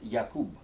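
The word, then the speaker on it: Jakob: and a French scientist Jacob as is really pronounced yak but it's okay for the purpose of the exam it's the crille Jacob disease there's no need for the pronunciation over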